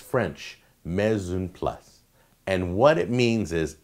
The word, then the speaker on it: mise en place: Your next term is called Mise en place. That's right. That's how it's pronounced. I know because I checked the pronunciation. It's French. Mise en place.